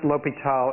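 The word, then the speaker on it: L'Hôpital: that's the same name since the circumflex is what you put in French to um to uh omit the S so it's the same thing it's still pronounced Lal even if it's got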